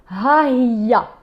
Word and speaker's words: Hiya: Okay, so let's do a bit of pronunciation for now. In the feminine, it's Hiya.